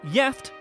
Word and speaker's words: gift: One Swedish word that is spelled the same as the English is gift, but is pronounced gift and has 2 separate meanings, the first of which means married.